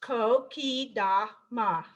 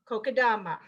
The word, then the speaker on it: Kokedama: Now it is pronounced Kokedama, Kokedama, all right?